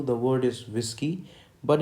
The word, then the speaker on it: Whiskey: Basically, for this letter W, the word is whiskey, but in phonetics, the spelling is WISSKEY. Okay, so I'm aligning this. That means you have to focus or emphasize this phonetic spelling, that is WISS.